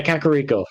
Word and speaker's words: Kakariko: Yeah, Kakariko. Thank you. I can never pronounce Kakariko. I was gonna say Kakariko, like paprika, but that's close.